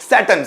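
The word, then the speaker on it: Saturn: में बोला जाता है सैटर्न क्या बोला जाता है सैटर्न यहां का जो आर है वो भी साइलेंट होता है सैटर्न क्या बोलते हैं सैटन सैटर्न means Shani next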